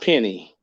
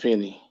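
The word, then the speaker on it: penne: kenny penny pasta is it's pronounced penny it is it's pronounced penny okay okay yeah i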